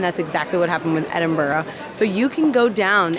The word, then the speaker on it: Edinburgh: Also, yes, the correct way to say the name of this town or city is Edinburgh. Yes, it looks like similar to what we would see in the name Pittsburgh in the US, but it is not